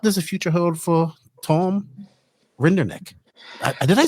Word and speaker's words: Rinderknecht: What does the future hold for Tom Rinderknecht?